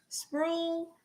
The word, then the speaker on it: Sproul: Sproul sounds like drool, except with the X.